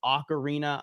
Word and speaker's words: Ocarina: phenomenal discussion uh about it I know it's Ocarina I've always said okarina so I'm going to always say say o